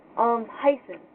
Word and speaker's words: heißen: It looks like a strange B, but it's not pronounced anything like a B. It actually has more of a hissing sound.